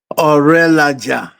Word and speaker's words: Orelaja: So, how do you pronounce your name? Orelaja. Ourelaja.